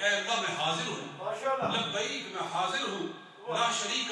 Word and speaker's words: لبیک: بھی عرض کروں کہ لبیک کے تلفظ جو ہے وہ صحیح ادا کرنے چاہیے. بڑے عجیب و غریب لوگ تلفظ ادا کرتے لبیک, وہ ایسے جیسے پتہ نہیں کیا آواز آئی ہے. یہ عربی تلفظ جو یہ عربی الفاظ ہیں, زندگی میں ایک بار آپ نے کہنے ہیں تو کیا عجیب و غریب اور آپ لہجے ہوتے ہیں لوگوں کے. صحیح تلفظ لبیک, ہاں میرے ساتھ مل